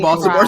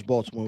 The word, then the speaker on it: Baltimore: of women of Baltimore you threw the T in there and really no no I always pronounce Baltimore with the t uh purposely especially in public settings uh that's fair but